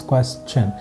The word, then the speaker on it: question: If that is the letter you find before tion, then by default the algorithm says pronounce it as chun.